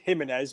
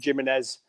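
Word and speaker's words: Jiménez: If you're continental, it's Jimenez, but if you're from Burnley, it's Jimenez.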